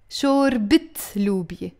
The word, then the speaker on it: شوربة لوبيا: But the moment we pronounce the تاء مربوطة, the فتحة always becomes a كسرة. شوربت لوبيا.